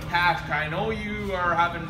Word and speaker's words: Qashqai: Yes, I said Qashqai. I know you are having difficulties pronouncing it.